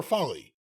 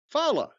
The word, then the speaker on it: Ulafala: Well, over there, if you mispronounce the Ulafala. Is it Fala or Folly? Fala. Oh, okay. It's funny if it's Folly.